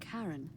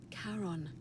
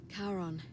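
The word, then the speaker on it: Charon: it's just as you described it only your pronunciation is a little off the name you heard wasn't karen it was c c-h-a-r-o-n yes yes as in caron the ferryman of the dead karon who in exchange for the right coin helps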